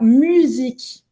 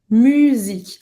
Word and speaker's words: musique: eu percebi é que ele não fala musique. Ele fala musique. Então, presta atenção, o U em francês, a gente faz a boca do U e fala I. Musique.